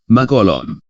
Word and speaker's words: mangholom: itu diucapkan dilafalkan Kak sebagai contoh tertulis mangholom pengucapannya lafalnya makolom tetapi khusus akhiran hon